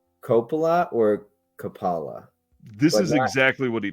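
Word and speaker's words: Coppola: into um Capa okay kapala kapala I think is how he's saying it kapala Francis Ford Copa is how I say it Copa is correct that's how I pronounce it and he says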